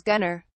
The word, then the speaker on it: Gunnar: His name is Gunnar. It rhymes with lunar.